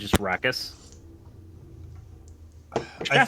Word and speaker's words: Arrakis: First is the Arrakis tribe. Donald, am I pronouncing that correctly? Arrakis. It doesn't really matter. Okay, A lot of people call it Arrakis.